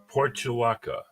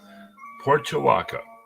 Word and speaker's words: Portulaca: And what I've got today is Portulaca. Leanna nodded, I said it right. Portulaca.